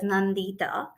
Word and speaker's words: Nandita: So, sharing a little bit about me, my name is Nandita, and it's pronounced as Nandita.